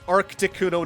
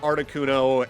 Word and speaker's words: Articuno: Like for some people it's Arcticuno, not Articuno, and it's Groundon, not Groundon kind of deal.